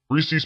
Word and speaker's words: Reese's: Reese's Pieces. Everybody pronounces it Reese's Pieces. They pronounce it Reese's.